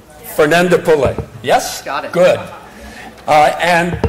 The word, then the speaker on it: Fernandopulle: I'm going to say how to pronounce his name, which is Rushika. Fernandopulle.